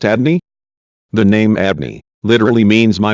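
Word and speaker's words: Adonai: this we learn that we are to pronounce the name javea as Adney in prayer or when reciting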